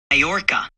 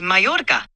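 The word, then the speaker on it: Mallorca: How do you pronounce Morca? It's me. Morca.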